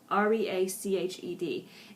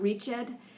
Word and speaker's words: reached: is sounded is spoken so it's reached re a c h e d and again it's not reached but it's reached just one syllable okay now we're going